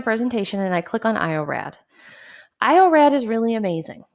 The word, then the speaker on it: iorad: or used okay and you spell it like you say it so i call it iorad okay it's spelled i